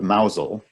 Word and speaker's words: Mousehole: the distance on the right the town of Mazal which is spelled mousehole that pronounced nozzle has a very